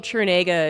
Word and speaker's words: Trinega: Well, my last name Trinega is actually pronounced exactly how I would assume it was pronounced.